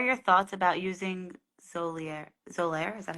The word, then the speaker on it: Xolair: Xolair, is that how you say it? Xolair.